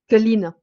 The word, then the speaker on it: Călin: Heu, Călin Georgescu, c'est ça? Călin, Oui, comment on dit? Colline. OK, c'est pareil. Donc monsieur Georgescu, voilà, qui